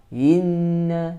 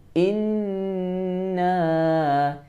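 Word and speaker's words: إنّا: Jadi bacanya jangan inna, tapi inna a'tainakal kautsar.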